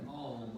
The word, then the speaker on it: Om: It's the sound Om. O-M is how it's spelled. The Sanskrit mantra for the universal sound or the sound of creation. You can use it as a long O and a long M.